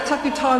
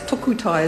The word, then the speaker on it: Takutai: The Māori Party has approached, and talking about the Takutai Moana bill, I have to just warn Mr Boscawen that when you speak about it, please pronounce it properly, because tukutai is something completely different meaning totally.